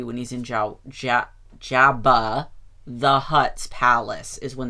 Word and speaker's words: Jabba: a droid yeah but I like saying Yabba I like the I like how Diego Luna because he speaks Spanish pronounces Jabba with an H it makes me like